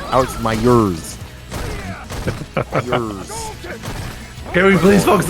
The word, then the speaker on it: Myers: Alex Myers. That's actually how you say his name. Alex Myers.